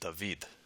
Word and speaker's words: David: It's likely that the alpha oopsilon defthong was pronounced with a final v sound when it precedes a voiced syllable as it does here. So most likely this word would be pronounced Davidid.